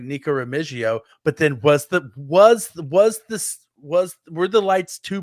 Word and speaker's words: Remigio: It's Remigio, Rocky, because he has been very vocal about like it is Remigio. Because he's Filipino, and that's the correct pronunciation.